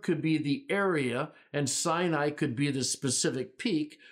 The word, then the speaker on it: Sinai: s s saai and we say Sinai but you pronounce it saai s saai it's possible